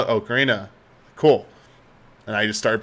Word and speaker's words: Ocarina: okarina so here's the true story I always pronounced it Ocarina until I met someone from Nintendo and they kept saying okarina of time and I was like huh and they're like that's actually how you say okarina it's pronounced that way I was like oh